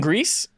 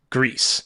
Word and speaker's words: Gris: sense for some reason i thought it was french and i've been pronouncing it gree this whole time and then i just now looked it up and said oh greece is spanish for gray